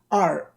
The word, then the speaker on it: Roncesvalles: So that you have the correct ones, I'm going to pronounce them for you. So for the streets, it goes like this. Roncesvalles.